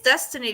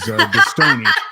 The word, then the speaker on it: Destiny: I was gonna say I think it's Destiny because it's Destiny. I've always thought it being Destiny makes sense, but somebody you who's know? often on the go likes to pronounce it as Destony.